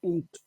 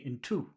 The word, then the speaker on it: into: that preposition right yeah into into so which which syllable has the emphasis in or to into into two no that would be in two in two but this is into into okay into yes